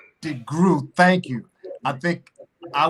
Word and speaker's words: DeGruy: go any further dr joy how do you pronounce your last name degree degree thank you i think i was maybe one